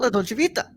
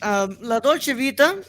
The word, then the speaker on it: La Dolce Vita: But yeah, today we're gonna talk about La Dolce Vita.